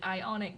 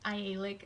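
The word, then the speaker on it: Aialik: also saw the ialak glacier I know I pronounced it ionic Glacier in my video when I was actually filming the glacier itself it's not ionic it's ialik I suck it pronunciation but anyway it was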